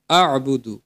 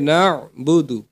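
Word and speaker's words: نعبد: এখানে আমরা অনেকেই বলে ফেলি আবুদু। এখানে হবে নাবুদু।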